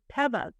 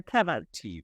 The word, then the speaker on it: Tevas: We hear a lot of Corteva because people wear sandals that are called Tevas, which we're all saying it wrong. It's Tevas. They're Tevas. So, so we are Corteva.